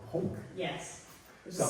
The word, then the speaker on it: Punc: Yeah, the name of the fanzine comes from the radio show I've been doing, which is also called Punc.